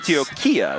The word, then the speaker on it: Antioquia: Antioquia is how they say it.